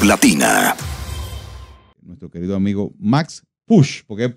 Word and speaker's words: Puig: Nuestro querido amigo Max Push, porque es Push, ¿verdad? Así se pronuncia. Bienvenido, don Max. Gracias. Apellido catalán. Sí, es un apellido catalán.